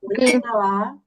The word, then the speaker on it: коляда: ласка ще раз Хочу давайте прочитаємо складні слова і наголос щоб ви потім правильно читали Різдво Різдво родзинки родзинки віддвяного Дідух Дідух дідудух розчину розчину пампучину пампушки кампу коляда коляда коляда коляда А